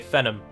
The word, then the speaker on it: Fenholm: So it's now called Fenholm, or, as I say, Fenham, which is how I would pronounce it.